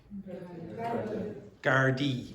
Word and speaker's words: Gardaí: How do you pronounce that word? Gardaí. So this is the plural of Garda.